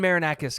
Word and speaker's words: Marinakis: If Nuno can uh Marinacus, thank you. If Nuno and Marinakis can put aside their differences and stop being